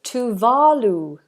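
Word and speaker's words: Tuvalu: to work up so this is talu talu is how we pronounce it here in in the UK talu is close to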